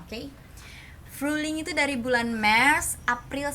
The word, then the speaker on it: Frühling: Tulisannya Frühling tetap gini, nggak pakai H, nggak dibaca H.